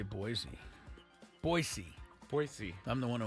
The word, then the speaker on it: Boise: them badly that game was in Las Vegas Boise State beat them earlier this year I don't know four points doesn't seem right I must say Boise boisey boisey I'm the one who always says pronounce it right by the way Genty yeah